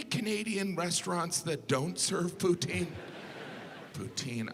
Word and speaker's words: poutine: restaurants that don't serve poutine poutine i know some of you pronounce it putin but you're still saying poo but you know poutine